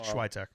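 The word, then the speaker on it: Świątek: Swiatek? that Alcaraz match is not till Friday. Yeah, I know. Okay. I'm just saying that girls are tomorrow. Schweitek.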